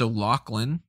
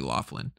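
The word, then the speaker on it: O'Loughlin: west goran vishnik alex o'lachlan i think it's pronounced the it might be laughlin ewan mcgregor of course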